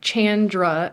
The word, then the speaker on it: Chandra: so my name is Chandra and how I tell people to pronounce it is think of like Jackie Chan and for some reason that little um tip everyone's like oh yeah Chandra and then from but